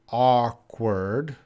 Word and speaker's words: awkward: sentence career with grace occurred awkward please pronounce pronounce these words o curd awkward occurred occurred occurred oh that's a difficult one